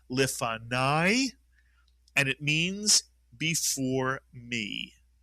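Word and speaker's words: לְפָנַי: Nai is correct because the kamats with a yud at the end of a word is the same as a patah plus a yud.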